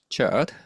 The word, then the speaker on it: CHERD: I'm an associate professor at the Center for Higher Education Research and Development, CHERD, which rhymes with nerd.